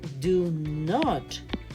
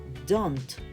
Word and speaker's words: don't: Cambió la escritura y cambió la pronunciación. Ya no se dice do not, se dice don't.